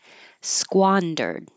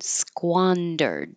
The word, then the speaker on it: squandered: Squandered. Squan. It's kind of unusual, the SKW combination. Squandered.